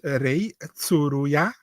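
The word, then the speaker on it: Rei Tsuruya: My name is Ray Tsuruya.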